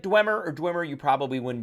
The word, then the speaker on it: Dweomer: you pronounce the word D-W-E-O-M-E-R. It's either Dwemer or Dwemer, not Dweomer. Maybe it's Dweomer, but most of the sources I looked at said that it is Dwemer. So if you said Dwemer or Dwemer, you probably wouldn't be wrong.